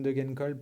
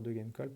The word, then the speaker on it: Degenkolb: Idem pour la team DSM, Søren Kragh Andersen n'est pas présent, John Degenkolb, pardon, faut pas que je le prononce à l'anglaise, John Degenkolb me paraît trop court,